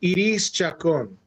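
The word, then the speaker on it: Iris Chacón: You say proper pronunciation. Iris Chacon.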